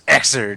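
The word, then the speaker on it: Xrd: on this but well I still hear you guys say Zer and I'm like no it's exer yeah it's not pronounce it xard so XR D just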